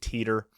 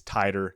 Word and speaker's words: Titor: It's actually, when it's been discussed in other venues and whatnot, it's been pronounced John Teeter.